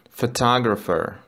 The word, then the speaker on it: photographer: Photographer. PH мы читаем как F.